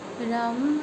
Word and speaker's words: रं: गहरी लंबी सांस भरिए, रम रम। आप उच्चारण करते रहिए। इसमें हम म की ध्वनि में कंपन पैदा करते हैं।